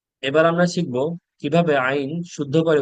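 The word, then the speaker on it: عين: আইন উচ্চারণ করতে হয় হলকের মধ্যখান থেকে, অর্থাৎ গলার মধ্য হতে আইন উচ্চারণ করতে হয়। এবং আইন উচ্চারণ করার সময় গলার মধ্যে একটু চাপ সৃষ্টি করতে হয়।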